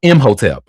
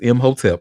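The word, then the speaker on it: Imhotep: Did you say hotelep? Um, M hotelep. Uh, so his name is spelled I M H O T E P. Yes, it is M hotelep honey.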